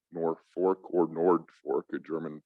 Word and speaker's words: Norfolk: with the city of norfolk yes you're hearing me say nor fork and not nor folk as in virginia or england there's a reason for